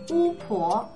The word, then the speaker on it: 巫婆: Then pe plus o is a little tricky. It makes the sound po, not po, but po, as in 巫婆, which, 巫婆. I don't know why, it's just one of those pronunciation things you need to learn.